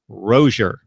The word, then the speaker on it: Rozier: to take your lead a few weeks ago rosier correct that's what he said but you know